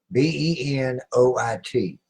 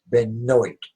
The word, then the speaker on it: Benoit: Daniel, D-I-N-E-L, B-E-N-O-I-T. Benoit. He says it's pronounced Benoit. It's Benoit. B-E-N-O-I-T. The correct pronunciation. Benoit. There is nothing silent in there. There's no W-Y. Benoit. There is. It's Benoit. N-O-I-T.